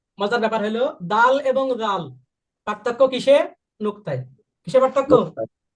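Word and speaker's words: ذال: এই নরম করে জিহ্বাটা দাঁতের আগার সাথে লাগবে। জাল।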